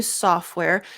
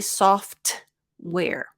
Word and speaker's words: software: so used the new software notice that for software again the we kind of eat the tea for that one I don't usually say soft where so for this one